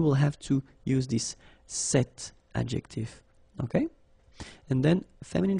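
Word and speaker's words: cette: if you listen carefully the masculine form here set and The Feminine form here set you write them differently but then you pronounce them the same way all right for the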